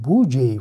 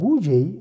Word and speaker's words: Budget: Bakın budget yazılıyor ama budget şeklinde okunuyor. Sakın aynı budget şeklinde telaffuz etmeyin. Budget şeklinde telaffuz etmeniz gerekiyor.